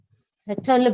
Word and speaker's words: subtle: Beings in their own special yet subtle way. The pronunciation B is silent.